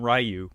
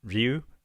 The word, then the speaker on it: Ryu: Was in Japanese it would be pronounced Ryu. But in the States, most people call him Ryu.